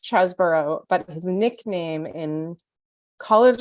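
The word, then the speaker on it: Chesebro: just to be clear is it cheeseburger or chesborough has anyone ever so according according to the Washington Post and uh airmail it is pronounced chasborough but his nickname in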